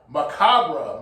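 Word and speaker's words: macabre: um I think um macabra macabra my fault that's how the way to pronounce macabra and it means uh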